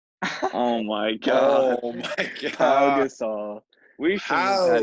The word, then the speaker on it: Pau: Oh my Pau god. Gasol. We should have had you He moderate, is a honestly. Pau Gasol, not Paul Gasol. All right, I just pronounced the first part wrong.